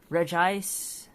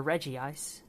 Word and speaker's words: Regice: Reggie gigas Reggie Rock Regice or Reggie ice you could pronounce it either way um Reggie Steele is